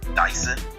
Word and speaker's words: Dyson: name is my name Dyson it's just spelled like the vacuum cleaning you I suck the